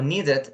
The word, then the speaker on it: needed: When the verb finish in T or in D, for example, wanted or needed, you are going to pronunciate like an ed, okay?